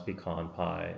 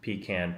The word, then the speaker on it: pecan: learned how to pronounce peon pie it's not PE pean pie or yeah anything else it's peon peon pie David looks like